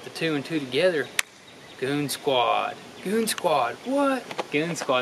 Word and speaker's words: Goonzquad: with it really so it's like goon squad goon squad now we're kind of like goons and it's a squad now so it went from goons on quads to goon squad but it's still spelled with the z though so over here